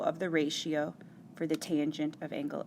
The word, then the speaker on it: tangent: Tangent of angle A can be simplified to just tan. That's how you'll see it in your calculator, still pronounced tangent.